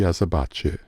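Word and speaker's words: Azabache: design from runoff Groove called the azer beige or more Spanish pronounced the azerbache this is a build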